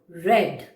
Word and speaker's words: read: e a d read but in the past tense the pronunciation will change but the spelling will be the same read will become red children there are a